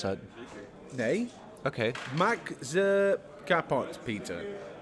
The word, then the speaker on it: Maxi Kapot Peter: Max Kapot Peter. Right. Spot on.